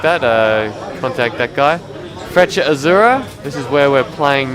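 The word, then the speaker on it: Azzurra: It's pronounced Freccia Azura, not Freccia Azura or whatever people are trying to say.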